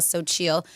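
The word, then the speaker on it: Xochitl: It's but it's spelled X O C H I T L. So chill.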